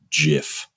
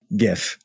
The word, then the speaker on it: GIF: the apocalypse is starting because you just said Jiff GIF okay sorry I'm so sorry you got me